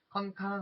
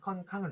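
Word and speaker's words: ค่อนข้าง: 그리고 또 컨캉 하실 때도 컨캉 여기 아니라 요것도 짧게 읽으셔야 됩니다.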